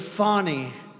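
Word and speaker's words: Fani: know how she get she should add a little u in there someplace if she wants people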